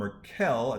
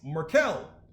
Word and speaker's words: Markel: get started with reverend markell i think he told me the better you spelled you said my name wrong it's merkel so i better go